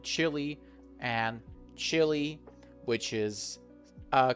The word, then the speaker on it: Chile: But in terms of pronunciation, they are pronounced the same. Chile and Chile, which is uh quite cold.